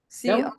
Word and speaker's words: Comodo: Comodo.